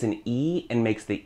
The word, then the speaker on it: y: you see it alone, just a little old Y all alone, it's actually the word for and. So when you wanna say and in Spanish, just say E.